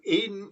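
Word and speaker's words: Aidenn: The word Aden, as I understand it, is actually Edgar Allan Poe's invention. He's simply looking for a rhyme with laden, and so he's using the word Eden from the Bible, E-D-E-N, but he's putting a different pronunciation to it to make it rhyme, to make it clear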